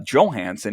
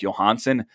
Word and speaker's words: Johansson: the new jersey devils the winger started to go by uh joe hansen instead of johansson surprising many who had grown accustomed to pronouncing the last name like johansson had the capitals really